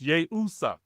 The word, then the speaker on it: Yeshua: It was Yeshua. So, but the I was around there was yay usa and it's pronounced yay usa. Yay. The I was pronounced like a a Y.